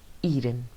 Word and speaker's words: Eden: is pronounced aiden but in king james language it is pronounced eden when god created man